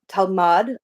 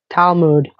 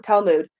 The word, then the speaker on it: Talmud: actually have been written as like the tamal talmad. How do you pronounce it? Talmood. Thank you. Talmud to sort of Yeah.